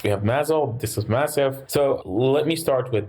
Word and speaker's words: MASEF: about it's actually called massive it stands for the metabolic Advanced Seattle hepatitis fibrosis core okay so the a is a short day not a long a okay I stand corrected